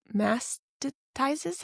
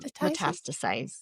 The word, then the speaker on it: metastasize: And she kept telling me so many times like, "You could have died because once it mast mastizes, how do you say it? Mast metastasize. metastasize.